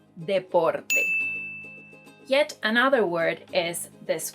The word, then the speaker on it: deporte: So if you were thinking that this word is pronounced deporte because you thought it was somehow related to deportation, well, that's not what it means, and it's pronounced deporte.